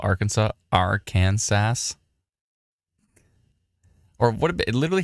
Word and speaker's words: Arkansas: Woodstock uh Sora says they get real upset if you pronounce it R Kansas yeah I mean it's literally the words AR Kansas on it but yeah Arkansas down in Arkansas uh thundering